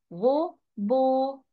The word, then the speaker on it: robot: Faites attention, on ne prononce pas le T à la fin. Robot.